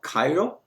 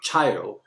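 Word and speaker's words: chiral: hands relative hands uh so ch here you know is not called you know child uh so ch has a pronunciation of k in sound words right i i was told by my student it's called cairo not child okay and after this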